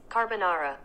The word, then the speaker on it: carbonara: making carbonara carbonara carbonara how do you say it carbonara i'm such a terrible italian car but how do you say it okay i'm gonna google it that's how they say it carbonara carbonara so today's recipe